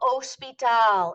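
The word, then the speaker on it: hospital: estación de gasolina el Ospital is an exact cognate but remember h's are silent el oh sweet ow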